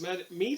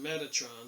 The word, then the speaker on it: Metatron: magical text suggests that the word was pronounced med me that's wrong rather than Metatron so they're just discussing